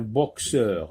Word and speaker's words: boxeur: Donc, c'est un boxeur. Un boxeur. Là, on entend X. X. On entend X. Boxeur. Boxeur.